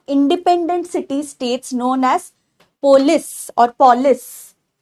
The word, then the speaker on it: polis: city states known as polis or polis. Polis ही actually this is the right pronunciation.